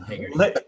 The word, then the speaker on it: Hagerty: Did I say the name wrong? It's all right, man. Yeah, it's Lakey. And Hagerty.